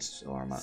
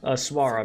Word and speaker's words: swara: Only Master Phoenix knew what the blade swarma, I said swarma, swara meant.